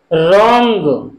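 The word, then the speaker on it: wrong: रोंग, रोंग। इसमें W silent है, डब्ल्यू।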